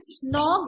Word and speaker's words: knock: The in Yes, the word knock the silent letter is which letter? K. K.